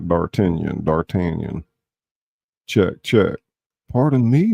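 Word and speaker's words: D'Artagnan: Dartanion. They said Dartanion. Not Dartanion.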